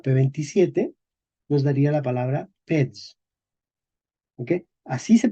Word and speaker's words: pez: Entonces, en español medieval se escribía P-E-Z, pero se pronunciaba peds. ¿Ok? Y en español moderno también escribimos pez con Z, ¿verdad? Pero en español moderno decimos pez.